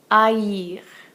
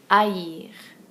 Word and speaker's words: haïr: It'll go over an I or an E, and it tells us to pronounce a vowel separately from the one before it. Haïti, Noël, haïr. Haïti, Noël, haïr.